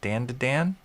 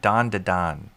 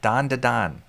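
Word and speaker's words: Dandadan: Dan Dan Dandan. How do you pronounce it? Dan Dan Dan. Do I dare? It's a long a so more like dandon. Oh, dandon.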